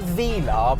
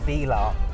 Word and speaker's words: Velar: So what we've got here is a 1969 Velar, and I say Velar because that is the correct way to pronounce the name.